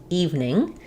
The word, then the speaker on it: evening: So let's look at how to pronounce evening. So even though we have the word even with 2 syllables, that's even, sounds like even. In evening, you should think about it more like the word eve plus ning.